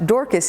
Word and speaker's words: Dorcas: up to her name pronounced dorkis in greek or tabitha in aramaic she was a kind person who deftly impacted others lives for the good dorkis should be the patron